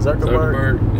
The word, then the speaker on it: Zuckerberg: And then also, Mark Zuckerberg, that's how you say it, Zuckerberg.